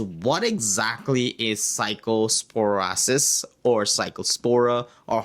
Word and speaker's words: Cyclospora: And uh this is an it's an infection that happens in your intestines due to a parasite called Cyclospora.